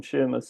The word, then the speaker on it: Seamus: have the same problem when people come to pronouncing my first name Sheamus sometimes she they refer to the seus S